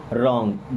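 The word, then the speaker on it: wrong: आप वर मींस थे रंग डब्लू साइलेंट एंड इसे पढ़ते हैं रंग मीस होता है गलत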